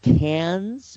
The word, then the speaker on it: Cairns: Out of Cairns, which is spelled Cairns, Australia.